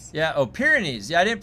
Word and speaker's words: Pyrenees: Pyrenees. Yeah. Oh, Pyrenees. Yeah, I didn't pronounce that right.